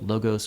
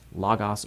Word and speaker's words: Logos: Also, a small note, Logos can be pronounced Logos or Logos. Doesn't matter. We tend to say Logos around people who can't read Greek, so they know it's got O's and not A's in it.